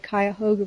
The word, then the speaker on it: Cuyahoga: And there was an explosion in Cleveland at the Manhattan Project plant on the, I hope I'm saying it right, Cuyahoga River.